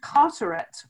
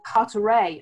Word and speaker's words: Carteret: in the state is a place called Carteret or cut array I think it's pronounced and that's probably because